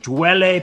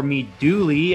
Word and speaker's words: Mi Duole: thanks all right all right welcome to the dweller podcast or meet dooley after i listen to john olson numerous times